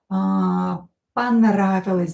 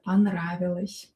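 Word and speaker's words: понравилось: Ponravilos'. Da? Or not stressed, pronounce this a here. Ponravilos'.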